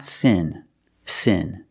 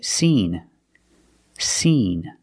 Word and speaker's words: seen: since my mom's birthday the pronunciation of the word is not Sin Sin we have to use the long e sound and say seen seen so let's look at the difference the first word is sin with the short e sound like this is sin and the second word is seen with the long e sound like green beans seen first let's talk